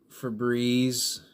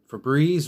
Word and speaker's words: Febreze: sprays okay I mean for breeze I mean Febreze remember Febreze rhymes with disease because that's what they'll